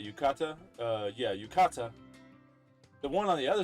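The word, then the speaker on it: 浴衣: yukata is how you say yukata uh yeah yukata the one on the other side which personally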